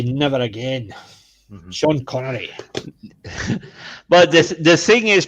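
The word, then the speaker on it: Connery: the the thing is because you don't have the accent you can actually pronounce it as Sean conry I don't have an accent yeah that's what I said you you don't have an accent therefore you can pronounce it accurately Thunderball by she as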